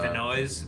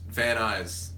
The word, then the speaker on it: Van Nuys: Oh, that's it's like Vinoy's.